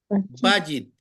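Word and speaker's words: בַּיִת: dice casa en hebreo Cómo se lee va bit bit bit acento en la penúltima sílaba si usted ve tiene un guion cito arriba de la bet quiere decir que el acento la lleva en la cex que está abajo de la vet por lo tanto casa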